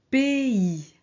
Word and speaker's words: pays: va voir a y alors ici on ne prononce pas a on prononce e ok pays pays pa ESS Esser